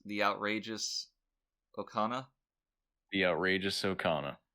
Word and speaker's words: Okona: outrageous okana the outrageous okana i see that name and i have to stop myself from pronouncing it incorrectly i know i always want to say okona right which is very